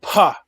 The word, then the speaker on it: pa: Okay, so this is the Dogon word pa. Po, pa, po, po. It's a letter, it's a P sound with a vowel sound at the end of it, which is pa.